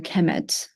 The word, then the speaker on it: Kemet: uh it will be the noun will be pronounced a Kemet so so uh Egyptians